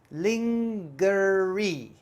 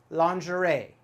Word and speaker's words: lingerie: i see this word i might try to say lingerie lingerie lingerie but actually totally wrong we pronounce this word in america lingerie lingerie lingerie i'm not quite sure how the french pronounce it it's probably very similar lingerie and lingerie is